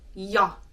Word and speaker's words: ja: So the J in Finnish is pronounced y, as in the letter is called yi, and you pronounce it y.